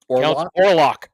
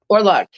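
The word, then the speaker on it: Orlok: Now, how do you pronounce the count's name again? Orlock. Orlock.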